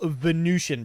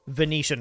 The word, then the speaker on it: Venetian: with this this whole venusian problem venetian problem venetian problem that's how you pronounce it okay we're gonna